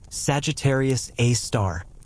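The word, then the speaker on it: Sagittarius A*: We call it Sagittarius A asterisk, pronounced Sagittarius A star, and we'll visit it more closely soon.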